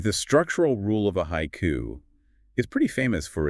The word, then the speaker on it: haiku: So, take the English word haiku. That's two syllables, but in Japanese, it's three morae. Haiku.